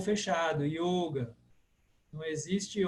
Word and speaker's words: yoga: do sânscrito clássico e o o como eu falei sempre fechado como em telefone Então você tem yoga famosíssima palavra yoga Por que yoga porque em sânscrito só tem o o fechado yoga não existe o aberto